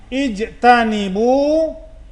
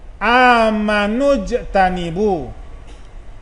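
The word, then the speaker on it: اجتنبوا: Ijtanibu, kalau dipenggal bacanya ijtanibu, diberi baris di bawah huruf alifnya. Kalau disambung amanujtanibu.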